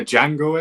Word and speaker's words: Django: Like I said, um yeah, Django is everywhere and yeah, the D is silent.